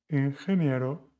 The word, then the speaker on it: ingeniero: 8. Ingeniero, suena como Juan.